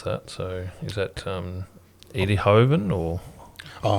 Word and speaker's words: Eindhoven: I don't know how to pronounce that. So is that Eindhoven or? Oh, Eindhoven.